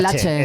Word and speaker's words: Laxe: Oliver se pronuncia Laxe, pero yo creo que es más bien Lache.